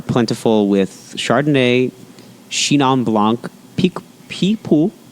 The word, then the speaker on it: Picpoul: They are plentiful with Chardonnay, Chenin Blanc, Picpoul, that's how you say it, Muscat grapes, mixed Moscato, and Mouzac, which is a red hue grape.